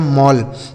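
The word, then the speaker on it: mall: आपका वॉल ठीक है आगे एम A double L एम से हो गया दोस्तों म इस ए डबल एल का क्वेश्चन ऑल यह लिखा गया मॉल एम A double L लिखा गया है मॉल ठीक है आगे एन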